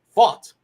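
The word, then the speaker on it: Pfaadt: The way I read it, and the way I saw it is fought, like the word fought, like fight, but fought.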